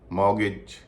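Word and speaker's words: mortgage: उच्चर नहीं होता बिसल कासल इन सब में भी टी का उचार नहीं होता विसल अपोल चेस्टनट मॉर्गेज इनम भी टी का उच नहीं होता अभी आपने ऐसे शब्दों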